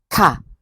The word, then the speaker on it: ค่ะ: Note that in this case, ka is pronounced with a falling tone. Ka, as you are making a statement, although it is best translated as a question in English.